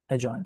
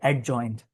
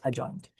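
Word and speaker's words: adjoint: But whenever you have D and J together, the D silent.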